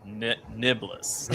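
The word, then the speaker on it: nae'blis: Jordan pronounced it Nablus, which that's kind of how I say it, and then Gnome said Nebulous. RJ said Niblis. Nebulous.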